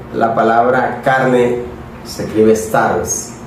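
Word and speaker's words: σάρξ: En griego la palabra carne se escribe sars.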